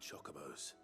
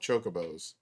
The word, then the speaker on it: Chocobo: Like I always, growing up, I always heard them called chocobos, not chocobos. At least they're not putting emphasis on the second O and just be like chocobos. You're putting emphasis on the wrong syllable.